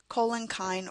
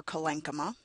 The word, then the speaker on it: collenchyma: Parenchyma cells, or parenchyma, depending on how you pronounce it, collenchyme or collenchyma, sclerenchyme or sclerenchyma, water conducting cells that